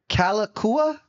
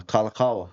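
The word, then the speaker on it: Kalākaua: Calakua. Uh, Kalakawa is how it's pronounced.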